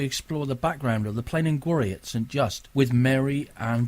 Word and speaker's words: Plen an Gwarry: Although I keep trying to say plain these days because that's in Cornish dialect. That's how it's said, really, Plen in Gwarry.